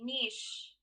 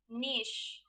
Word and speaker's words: niche: is the wrong answer the right answer in british english would be niche i repeat niche novel note schwinn sled